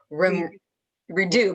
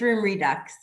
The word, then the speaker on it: Room Redux: always tease them and say you just don't pronounce all the letters so to me i would say room redo but it's not room redo is it no it's room redux okay we use the american term yeah so